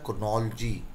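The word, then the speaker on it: chronology: Actually इसका जो pronunciation होता है वो होता है क्रोनोलॉजी, क्रोनोलॉजी।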